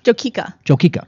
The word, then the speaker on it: Jokika: What do you do when you grow am I pronouncing it Joka Farms? Jokika. Jokika.